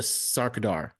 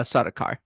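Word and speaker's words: Sardaukar: trady was attacked by the Harkins and the saradar did I pronounce that right uh sodar sodar oh so close so close see you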